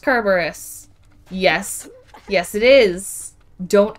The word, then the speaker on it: Kerberos: that would be the cutest yes izzy it's pronounced kerberos yes yes it is don't at me the